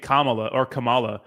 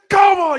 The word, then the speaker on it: Kamala: He got mad at me for saying Kamala. He's like, her name's Kamala. You're pronouncing it wrong on purpose.